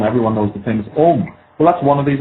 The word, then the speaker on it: Om: When you say Om, it's actually made of 3 letters, A-U-M.